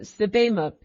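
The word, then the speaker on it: Sebamook: Tamant pronounced it Sibimuk.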